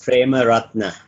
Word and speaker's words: Premarathna: But it's pronounced as PREMARATHNA.